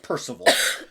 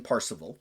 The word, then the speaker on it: Parzival: discovered the Holy Grail, sometimes pronounced Percival, but he goes for more of the old school pronunciation, Parzival.